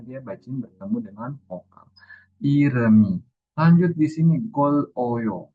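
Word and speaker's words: 이름이: Bukan dibaca irem i tapi iremi. Nah, M-nya ini naik ke bagian vokalnya. Apabila dia bacin bertemu dengan vokal. Iremi.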